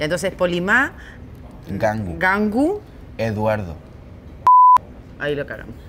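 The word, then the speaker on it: Ngangu: Mi nombre completo, Polimá Gangu. Gangu. Gangu, se escribe N-G-A-N-G-U.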